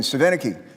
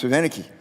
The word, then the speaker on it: Svinicki: Each commissioner, including our current chair, that's Kristine Svinicki. Let me say her name again, Svinicki. People have a hard time saying her name, it's Svinicki.